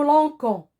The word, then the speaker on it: lançons: Donc, quand il s'agit de la première personne du pluriel nous, on doit automatiquement ajouter une cédille au C pour ne pas le prononcer que et dire nous lançons.